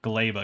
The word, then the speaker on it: Gleba: And yes, apparently it is pronounced Gleba because it's like a Polish word or something.